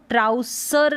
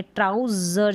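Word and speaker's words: trousers: टी आर का उच्चारण ट्र, आउ, यहाँ पर सर, इसको ट्राउसर नहीं पढ़ेंगे, ट्राउजर जैसे यहाँ हिंदी में लिखा है जर पढ़ेंगे।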